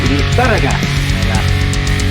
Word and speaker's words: Lizarraga: The old TV show feed, no, it's actually pronounced Lizarraga. Oh, Lizarraga. Lizarraga.